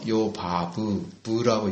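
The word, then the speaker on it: 요바브: 욕단의 12번째 아들은 요입니다 요밥 요은 요바 브라고 읽습니다 바라고 했습니다이 외친 사람이라는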